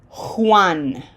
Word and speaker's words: Juan: Okay, this this name gets mispronounced by English speakers all the time. That J has to have a very strong H sound. Juan Juan. Most people just say one.